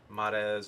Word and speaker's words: Marez: For me, Mars, Mars is like the layman's like American pronunciation. It's actually Marez or Marez.